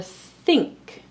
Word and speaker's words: think: The same with this consonant team here, NK. We see this in the words think and sink. Now here we do pronounce the k separately, but the N we don't pronounce like an N. We don't say sinka, we say sink or think.